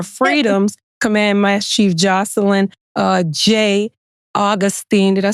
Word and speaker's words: Augustin: Command Master Chief Jacelyne, Augustin.